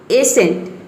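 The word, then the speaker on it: ascent: Saint, साइंस, seal, muscle, seizures, एसेंट, इसको pronounce करेंगे एसेंट।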